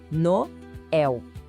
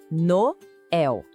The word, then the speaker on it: Noël: Ele mostra que a gente tem que pronunciar o O e o E separados. Vamos de novo, bem devagar. Noel.